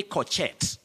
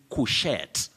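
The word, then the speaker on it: couchette: down from the wall don't say corchette don't say coquette it's cuchet you say cool then you have the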